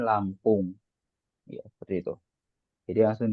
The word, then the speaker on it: Lampung: Begitu juga Lampung, tulisannya Lampunj. Tapi kita bilang ana min Lampung.